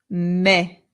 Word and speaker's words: me: Now, this word is not me. In Spanish, the E always makes the sound E. E. So this word becomes me.